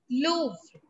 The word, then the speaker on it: Louvre: everybody is it clear what is it called louvre and another museum is musee dorsey music d